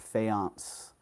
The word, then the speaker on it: faience: So this, okay, there's a little, I've heard it pronounced many different ways. I say it faience, Egyptian faience.